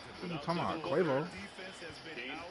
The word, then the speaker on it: Quavo: Quavo. That's how you pronounce it, right?